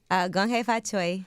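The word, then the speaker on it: 恭喜發財: Gong hei fa choi.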